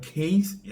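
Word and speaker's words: Kayes: They from Ivy Coast born in Mali, Malian city called Kes. It's spelled K A Y E S.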